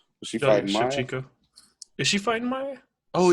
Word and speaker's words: Shevchenko: I said her last name wrong. But she fighting Maya. Shevchenko.